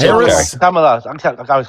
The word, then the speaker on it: Kamala: Kamala. I always call Camilla.